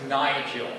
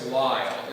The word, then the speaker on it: Lyle: Uh he first asked if my name was Nigel. That's a new one. Or even Niles and it's like no it's Lyall.